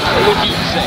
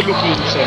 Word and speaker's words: Lou Quinse: Prima domanda, come cazzo si pronuncia? Lukinze. Lukinze. Allora, quindi, prima domanda, come presentereste Lukinze a chi non vi ascolta, chi non vi conosce? Ottimo, bene. Qual è anno? Innanzitutto è Lukinze.